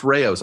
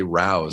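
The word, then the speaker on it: Rao's: it at the store it's pronounced Rayos I always say Rous yeah NOP it's Rayos okay good and I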